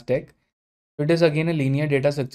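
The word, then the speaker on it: deque: So it stands for doubly ended queue and it's pronounced as deck.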